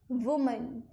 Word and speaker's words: woman: Woman. And here, when it is plural, it is pronounced as women.